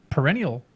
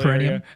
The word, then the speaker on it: perineum: The well, your perennial area hurts too. Yeah, you know? or your perennial Perineum?